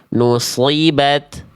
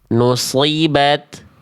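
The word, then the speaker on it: نصبت: Perhatikan ta sukunnya. Nusibat kerasa lebih kerasa ya dibanding tanya ketika berharakat. Nusibat. Nusibat nusibat.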